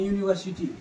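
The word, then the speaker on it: university: तो हमें एन लगना चाहिए, लेकिन एक बार हिंदी उच्चारण करके देख लेंगे, यूनिवर्सिटी, यूनिवर्सिटी, यूनिवर्सिटी।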